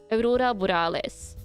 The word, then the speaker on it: Aurora Borealis: Um Aurora Burales. That's how you pronounce it in Norwegian.